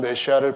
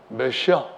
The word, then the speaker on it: 메시아: 우리말로는 메시아 이렇게 발음을 하는데요.